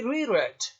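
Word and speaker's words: reread: है तो ये रीरेड, प्रोनाउंसिएशन चेंज हो जाती है लेकिन स्पेलिंग वही रहती है, रीड रेड रेड।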